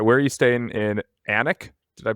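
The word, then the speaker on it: Alnwick: All right, where are you staying in Anik? Did I pronounce that correctly?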